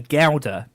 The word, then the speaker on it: Gouda: I never really got is that we say galder here in the UK to pronounce that type of cheese you're looking at me funny you say Ghouta right so Gouda but but Americans say guzar I / wait